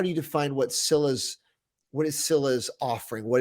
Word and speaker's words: Sila: so I'll say that I pronounce it uh as Cilla but it also has the meaning of uh I think like force or strength in Russian and other you know Eastern European languages and that is pronounced as Sila um but I've always